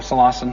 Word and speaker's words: psilocin: Most all of you are aware of this is that mushrooms which contain high amounts of psilocin or silosin however you want to pronounce it bruise bluish.